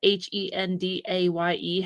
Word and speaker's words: Hendaye: But it is the cross of Hendaye, Hendaye, and not Hyundai, the car.